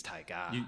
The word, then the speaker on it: taiga: I don't know how you say it. I think it's taiga. You've got to say it like Werner Herzog.